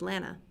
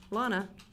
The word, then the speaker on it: Lana: And I'm Lana, pronounced Lana, like banana. Not Lana or Lena.